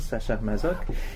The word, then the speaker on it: Sacher-Masoch: Une Amazone 1845 d'Alexandre Dumas, l'Amazone de Prague 1890 de Léopold von Sacher-Masoch, mais je prononce à la française, Sacher-Masoch, et Les Amazones 1928 de René Dunant.